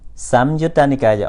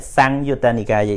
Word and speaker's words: Samyutta Nikaya: Samyutta Nikaya, or we can pronounce like Sangyutta Nikaya, is also not wrong, but generally they use Samyutta.